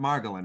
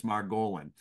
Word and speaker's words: Margolin: And when he sent me a message saying put the accent the emphasis on the O. So it's not Margolin, it's Margolin.